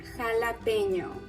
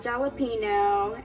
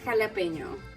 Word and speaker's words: jalapeño: So it's actually pronounced jalapeño. So it's not jalapeno, it's not jalapeno, jalapeno, jalapeno. It's jalapeño. I mean, you should really try to say that "new" sound, kind of like an airplane, like "new, jalapeño."